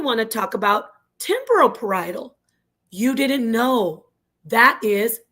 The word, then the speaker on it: parietal: Not parishal, not perily, not parallel. It's parietal.